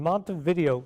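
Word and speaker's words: Montevideo: blah middle school in Mont videoo that's way they pronounce it Minnesota Mor Mont videoo Minnesota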